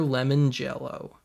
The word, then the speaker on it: Lemongello: i want to deliver the ballad of peter lemon jello and yes that is his real name and yes that is how you pronounce it in this two album package love